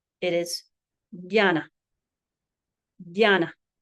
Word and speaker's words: jana: However, native speakers will often pronounce this as a dy sound. So rather than a harder J, it is pronounced as J. So rather than jambo it is rather than janna it is jana janna j.